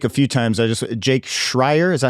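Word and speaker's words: Schreier: I just Jake Shrier.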